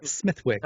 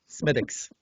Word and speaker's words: Smithwick's: is was it schmidt yes smith not smithwick smithwick's yeah no sir smithics nailed it every time all right